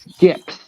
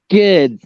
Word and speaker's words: Skids: You're not supposed Yeah. to put a P. Oh, okay, Skids, not Skips.